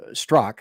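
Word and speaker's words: Straka: I've had Brandon uh stro on my show it's spelled St Str AKA but it's actually pronounced stro I just messed up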